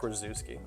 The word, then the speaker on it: Rzuski: We know that second Z we like to throw in there, but phonetically, it's Zach Rzuski.